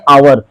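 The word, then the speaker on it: hour: यानी इसका पहला लेटर यच है, लेकिन अगर उच्चारण करेंगे आवर, तो ये आवर जो लिखा हुआ है इसका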